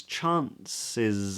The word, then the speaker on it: chances: Chances are, chances. Now that final S is a Z.